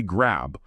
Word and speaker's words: grab: When you say grab, put your lips together for the B, but maybe don't release a big puff of air right after it. Helps it flow into the next word. Like, let's grab.